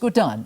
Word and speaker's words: Gordhan: my father called us Gan that's how he pronounced the name so yeah it's Gan so that was how the conversation started and